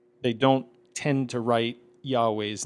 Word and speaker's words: Yahweh: After that, we have the tetetrogrammaton, the four-letter name of God Yuhe Vave, which historically would have been pronounced something like Yahweh.